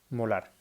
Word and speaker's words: molar: un valor de 8,82 molar se escribe una m y se pronuncia molar es lo mismo que